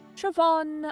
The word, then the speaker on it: Siobhan: other speakers would try to say it, like Siobhan or Lennox, Oshin, or Oshin.